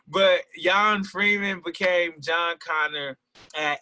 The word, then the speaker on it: Jon: Funny thing about that too is my birth name is actually pronounced Jan. So is yeah. So the funny thing about that is all through school when substitute teachers would call me John, like the whole class would, it's Jan, like I'm saying.